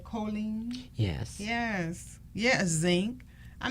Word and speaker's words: choline: I pronouncing this right? Choline?